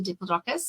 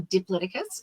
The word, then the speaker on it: Diplodocus: But then I also have my favorite character called Dippy the Diplodocus or Diplodocus, and my favorite dinosaur because both pronunciations are correct.